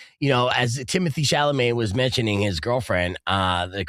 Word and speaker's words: Chalamet: It says, you say, bless your heart, Chalamet. Chalamet. Again, what a great joke that it's held up, and now you pronounce Chalamet like Adam Sandler.